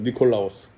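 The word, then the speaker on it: Νικόλαος: 니콜라오스. 이기는 자에게도 이긴다. 니카오.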